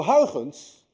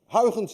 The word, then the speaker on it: Huygens: Huygens, by the way, is difficult to pronounce. Anyone of you who knows how to say Huygens correctly is also Dutch, because you miss the ui in your language and you miss the ch in your language.